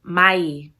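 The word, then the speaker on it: Mą'ii: It's Mai. Mai is how you say coyote in the Navajo language.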